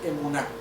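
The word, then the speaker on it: אמונה: La palabra fe en el hebreo se pronuncia emuná, que quiere decir certeza, convicción y sobre todo fidelidad.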